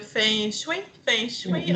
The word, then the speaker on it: feng shui: Répète après moi. Feng. Feng, Feng. feng, Avec un petit fond de G, là. Feng. feng. Ouais, pas trop G.